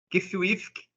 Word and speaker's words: Qfwfq: cência de kif kfk na verdade a gente pronuncia assim Mas a intenção do autor era a de que o o o nome do personagem do protagonista fosse realmente impronunciado ou e melhor melhor dizendo impronunciável porque o nome dele